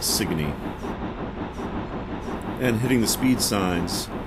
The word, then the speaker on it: Sigourney: Street by the way is actually spelled sigourney but nobody says it that way it's one of those weird colloquialisms everybody from Hartford adamantly insists that it is pronounced signe and hitting the speed